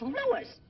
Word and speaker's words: Louis: Me name is Lois, not Lois. Gee whiz, everybody interpolates me name wrong. It's Louis. L-O-U-I-S.